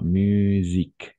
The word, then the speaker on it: musique: Attention, le S entre deux voyelles, on va prononcer comme un Z. D'accord? C'est pourquoi musique.